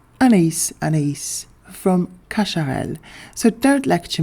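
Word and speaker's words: Anaïs Anaïs: And the fragrance in question is none other than Ana by Kashar. Yes, an A an A by Kasharl. I do also speak French by the way and I know it's supposed to be pronounced Anise Anise from Kasharel.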